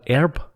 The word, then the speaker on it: herb: americans pronounce herb as herb they they drop the h the silent h in america why it's the same